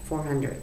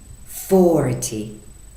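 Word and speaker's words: forty: Yes, you say for 10, 40. For 10, 40. تو for 10 صداتون و استرس کلمه آخر کلمه است. For 10. ولی تو 40 اول کلمه رو قوی میگید 40.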